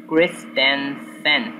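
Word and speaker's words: Christensen: the Cristiano send Bali I know how to pronounce it it's Kristensen yeah Chris intent Bali okay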